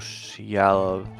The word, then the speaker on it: själv: Du hittar den rätta vinden kan du själv styra mot en lämlig punkt. Your pronunciation is funny, so for some words. Själv. The SJ kind of merges together to the sh sound.